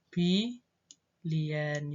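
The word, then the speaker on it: billion: tapi kalau di bahasa Inggris bukan miliar tapi by Lian yang benar Keya biasanya yang agak membingungkan disitu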